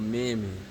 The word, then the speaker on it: Mammon: This devil is called Mammon. Alright? It rhymes with famine with an M.